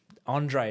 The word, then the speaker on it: Andreae: And Andreae is how it's pronounced.